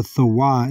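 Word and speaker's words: תָּו: The tawah is how you say it in the Hebrew.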